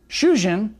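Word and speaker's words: 主人: Shujin, husband, has a short U vowel, but Shujin, prisoner, has a long U vowel.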